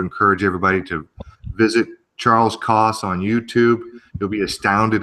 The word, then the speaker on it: Kos: It's Kos, right? That's how you pronounce That's it. right. That's right. KOS. That's correct. Yeah.